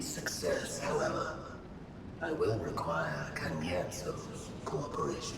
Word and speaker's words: Cagnazzo: In order to guarantee success, however, I will require Cagnazzo's cooperation. Cagnazzo. That's how it's pronounced?